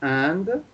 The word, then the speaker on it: et: today's note uh you remember the word for and um what is the word for and if